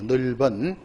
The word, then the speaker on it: 넓은: 넓은.